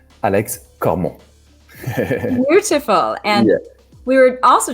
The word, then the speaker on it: Alex Cormont: so for the audience how do you pronounce your name the way it's supposed to be alex como beautiful and we were